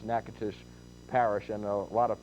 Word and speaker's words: Natchitoches: Wynn, Natchitoches, last night I mispronounced Natchitoches Parish, and a lot of people from Louisiana called up and let me know about it.